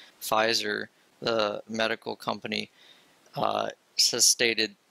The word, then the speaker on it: Pfizer: I read recently that I believe it's pronounced Pitzker or Pfizer, actually, sorry. Pfizer, the medical company, has